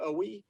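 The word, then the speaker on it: Oweh: I think that's how they pronounce his name, Owe.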